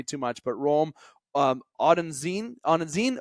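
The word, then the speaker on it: Odunze: I I Odin Z I'm not good at pronouncing that better than me he did it better than me Rome odeny that's there we go I had to make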